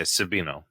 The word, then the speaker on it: Sabino: Oh yeah, Sabino.